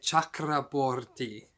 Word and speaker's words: Chakraborty: Chakraborty. Wow, can't believe I actually pronounced that correctly.